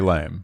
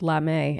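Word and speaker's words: lamé: you say that because there is a fabric called lame and it's spelled l-a-m-e accented are you serious yeah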